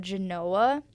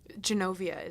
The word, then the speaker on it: Genovia: made-up country that the writers made up called Genoa. Genoa or Genova? Genovia, isn't Genovia, oh my God. I feel bad for mispronouncing it.